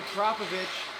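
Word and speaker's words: Akrapovič: porsche 911 this is akrapovic it's pronounced acropovich not acropovic i've seen guys at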